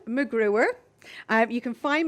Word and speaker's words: McGruer: instance you know who can't spell my name or pronounce it it is macGruber I have you can